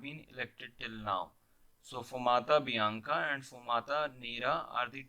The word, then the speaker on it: fumata bianca: Fumta bianca, the pronunciation could be Fumata bianca, signals that the College of Cardinals has reached 2/3 majority, the vote that is required for the selection.